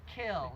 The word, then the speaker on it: kiln: Kill, for me, kill, K-I-L-N, is pronounced kill in my language.